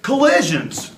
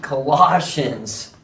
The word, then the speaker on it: Colossians: we get to the book of collisions collisions you need Colossians I think you've been